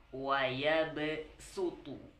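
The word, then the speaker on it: وَيَبْسُطُ: Nah, pada Quran surat Al-Baqarah 245 ini dibaca ke sin, gitu ya. Jadi bacanya sin wa yabsutu, begitu ya.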